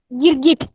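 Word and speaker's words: गिरगिट: See the pronunciation, child. This is ga and this is also ga. We are adding ra here and ta here. So both we are having e sign. So gi ir gir, gi it git, girgit, girgit, lizard.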